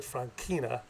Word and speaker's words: Franchina: I would like to tell you a story about my grandfather, Biagio Francina. Actually, they pronounced it Franchina, who, as an Italian national, joined the American Army in World War I.